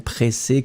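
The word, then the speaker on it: pressée: So, impatient is the first option, and then pressé could be totally acceptable. Pressé, remember, you will have to put this extra E in the end that you won't pronounce.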